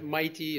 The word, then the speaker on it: MITei: So MITEI, Energy Initiative, MITEI is how we pronounce it.